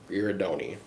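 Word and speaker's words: Girardoni: Giradoni.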